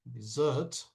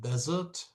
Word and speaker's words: dessert: Because if you write or say it out incorrectly and you write it with one S or if you pronounce it like desert, we are talking about Sahara.